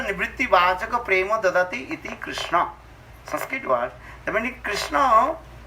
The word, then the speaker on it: Krishna: Krishna, here two syllables are there. Kri and Sna. Kri means to attract. Nasya nivritti vachaka prema dadati iti Krishna.